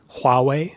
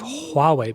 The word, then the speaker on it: Huawei: saying Huawei instead of Huawei, because they're not pronouncing the H. So in Chinese pinyin, they do pronounce the H, right?